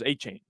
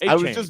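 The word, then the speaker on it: Achane: It was A-Chain. Like it was I'll there. call him whatever he wants. A-Chain.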